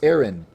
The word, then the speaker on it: Aran: and surviving samis Aran some call her Samus aarin and I would say you it sounds better pronounced Iran so the government contacts